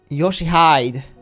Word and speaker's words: Yoshihide: 아니, 그 글자는 그렇게 읽는 게 아니라 No, that's not how you read those letters. 요시대라고 읽는 거다. Yoshihide. That's how you read it.